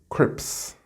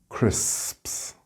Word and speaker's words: crisps: English-speaking children tend to make the same mistake that maybe you make, and they are not able to pronounce the first S. So they tend to say crips instead of crisps.